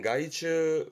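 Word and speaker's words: 害虫: 발음은 가이츠, 가이츠.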